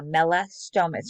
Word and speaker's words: Melastomus: muzzle for molastimus and that is how you pronounce that name uh melastomas you can see two root words there mela meaning dark um or yeah like a dark color and stomas meaning mouth so um a muzzle